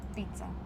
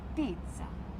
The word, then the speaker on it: pizza: If there is two consonants, we pronounce them both. Not pizza is pizza is most important in italiano to fill every sound.